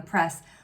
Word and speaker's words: press: And so I want to point out that it's not per and then S like this, because we don't say, can you press that button?